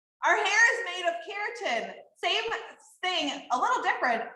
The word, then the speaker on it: keratin: you guys all say keratin it kind of sounds like the word carrot and we actually have